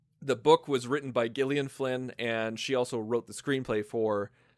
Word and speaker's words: Gillian: And it's and yes, that is how her name is pronounced. I feel like an idiot every single time I say it. It's not Jillian.